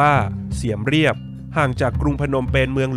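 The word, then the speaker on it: เสียมเรียบ: ปราสาท หิน นครวัด อยู่ ที่ เมือง เสียม ราช หรือ ชื่อ ท้อง ถิ่น ออก เสียง ว่า เสียม เรียบ ห่าง จาก กรุง พนมเปญ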